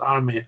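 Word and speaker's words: Emim: and that's imum and that's pronounced I mean I mean and it's Terrors are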